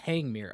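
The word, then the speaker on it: Tangmere: Producer note says it's pronounced Tangmir. Okay. So, we've established it is not Italian. Uh the the Tangmir is a bullied light Pacific type of locomotive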